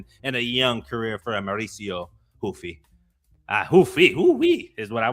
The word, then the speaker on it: Ruffy: And look, I know the name's supposed to be pronounced Hoofy, but I mean, we should stick with calling him Ruffy the way he puts people to sleep.